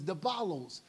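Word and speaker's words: διάβολος: That's why the word devil in the Greek means, is the pronunciation is diabolos, to cast oneself in between two, to divide them.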